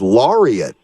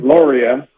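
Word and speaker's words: Laurat: your middle name is Laureate if I'm not mistaken is there a story behind that I've never heard that name before yeah it's actually the t is silent it's called Gloria and it's French for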